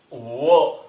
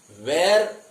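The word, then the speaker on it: were: एम, इज, आर, वॉज, वो। इसका pronunciation आपको देखना है। इसका प्रोनाउंसिएशन है वो। वेर, काफी बार इसे गलत तरीके से कहा जाता है। ये वेर नहीं होता है, इट्स प्रोनाउंसिएशन इज वो सिंपली।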